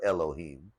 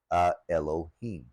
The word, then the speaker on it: Elohim: Yahweh, which is the name of the particular Elohim, the Elohah of the Hebrew people. So let's break that down. Now originally when we look through these original texts, the words used for God or gods were Elohim.